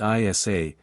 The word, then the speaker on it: Isa: possibly Scandinavian or gothic in these languages the name is pronounced Isa meaning ice or water